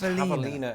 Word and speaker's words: javelina: Ah, yes, javelina, and it's very important that you do pronounce it the Spanish way, lest you confuse it for that well-known Olympic sport in which a ballerina throws a javelin.